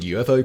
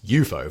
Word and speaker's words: UFO: if less colorful name unidentified flying objects eupo for short and yes you heard that right we've all been saying UFO wrong according to the coiner